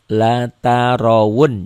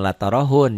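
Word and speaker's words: لترون: bukan Ha ini wau la Tarun jangan l tarohun ya Banyak orang yang baca latarahun e dibacanya dengan ha bukan dengan Ha ini dengan W wau latarun larunnal jahim tummaunaha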